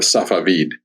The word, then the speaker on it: Safavid: was The Blade of Safavid, is how it's pronounced in Persian.